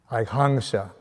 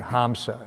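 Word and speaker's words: हंस: Or that an N, an M with the visarga on top is pronounced as NG. So kang, so it's like hangsa. So not hamsa, it's hangsa. So the swan is hangsa. But people say hamsa, but it's hangsa. NG.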